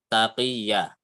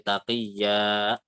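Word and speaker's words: تقيا: Jadi contoh kenapa maksudnya jangan sampai ada hamzah adalah contohnya ya di taqiyya. Jadinya ketika kita agak terlalu panjang jadi taqiyya. Nah, itu kan ada tambahan secara tidak langsung ada tambahan hamzah ya. Tua. Nah, itu nggak boleh ya. Tua gitu saja. Taqiyya seperti itu.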